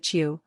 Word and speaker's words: HU: of prayer includes singing the word hu pronounced as you a holy name of